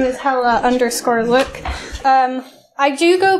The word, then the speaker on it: Hela: If you are going to try and pronounce it, it's Hela, like Hela cool, rather than Hela, like Hela or Hela or anything like that.